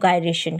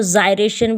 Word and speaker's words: gyration: अब आप चलिए नेक्स्ट अपने टॉपिक के ऊपर, रेडियस ऑफ गायरेशन के ऊपर। ठीक है, रेडियस ऑफ गायरेशन, बहुत लोग इसको जायरेशन भी बोलते हैं।